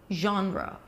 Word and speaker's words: genre: genre okay and no you have to remember that it's two syllables so the first syllable